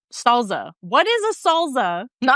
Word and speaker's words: salsa: So, I think it's salsa, right? Just with an American accent. My dad says salsa like with a Z. Salsa. What is a salsa?